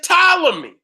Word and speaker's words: Ptolemy: right there so we their correct pronunciation is Ptolemy but yet it still